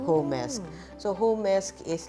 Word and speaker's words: Homesque: we have a group chat called hesk so hesk is like home and ESO our surname put together right so and then so a lot of people actually mispronounce some call it home SK some call it home ski so it's it's